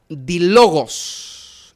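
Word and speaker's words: δίλογος: Bueno, aquí hay una palabra griega que se pronuncia dilogos. Dilogos.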